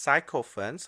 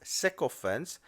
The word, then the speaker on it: sycophants: I'm sick of sycophants the word is not pronounced psycho friends although that's what it looks like it is sycophants so the sick of